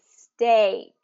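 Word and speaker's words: steak: questions box um but that's the long a stake now here's here's kind of where it gets tricky is that the way it's spelled following the rules it really should be Sak right Sak Sak so this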